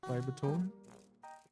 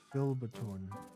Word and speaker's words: Filbertone: This is Fibertone. Fibertone is supposed to be. Let's find it. Okay, wait, no, I got the name wrong. This is Filbertone, not Fibertone.